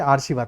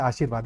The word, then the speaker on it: आशीर्वाद: तो वैसे ही इसको पढ़ेंगे आर्शीवाद, तो ये गलत है, ऑप्शन ए गलत है। अगर किसी ने मार्क कर दिया है तो अब समझ में आ जाना चाहिए कि हम प्रोनाउंसिएशन करते हैं तो कैसे करते हैं। ठीक है, ये इसको आर्शीवाद पढ़ेंगे जबकि होता है आशीर्वाद, इसलिए डी सही है।